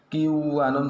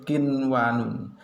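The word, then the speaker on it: قنوان: \R membacanya harus jelas contohnya qinwanun, tidak boleh membaca qiwwanun salah\R yang betul qinwanun, sinwanun, bunyanun, dunya saya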